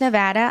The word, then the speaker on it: Nevada: And it's Nevada. I'm sorry. I am Nevadan, and I will correct you all.